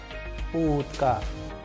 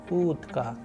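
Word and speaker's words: утка: And with the help of sample Russian word, you can pronounce oo, as in utka, utka, which means duck.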